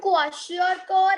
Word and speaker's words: kwashiorkor: Ma'am, kwashiorkor and marasmus. Yes, kwashiorkor and marasmus. And see, you have to understand how to pronounce these two. Kwashiorkor, K-W-A, kwa, S-H-I-O-R, sure, and K-O-R is kor. Kwashiorkor.